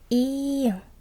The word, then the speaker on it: 이응: Được rồi, chữ tiếp theo là 이응 .